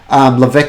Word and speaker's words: Levesque: Levesque has got a silent S in the middle there somewhere. It's kind of French with Q-U-E on there.